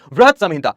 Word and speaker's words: बृहत संहिता: बृहत संहिता। यहां पर बृहत आप प्रोनाउंस करेंगे।